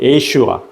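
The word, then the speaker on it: ישוע: 히브리어로 예수는 예슈아 또는 여호수아의 발음으로 이렇게 일컬어지는데요.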